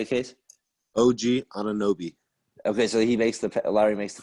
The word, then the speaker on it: Anunoby: The old gangster Obunobi. I don't know how to say it. OG something. OG Alwyn. Yeah, I just can't say his last name. You know that. Say it, Case. OG Anunoby.